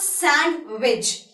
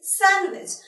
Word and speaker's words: sandwich: See, you won't be pronouncing the word D, the letter D in the word sandwich.